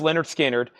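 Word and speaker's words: Lynyrd Skynyrd: get done reading all this off this is Leonard skinnard pronounced Leonard skinnard this is a gate fold super clean copy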